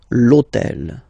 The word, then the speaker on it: hôtel: starts with H, but remember that in French we don't pronounce H, okay, so basically the first sound of the word is the vowel O, okay, so for the same reason, needs to disappear.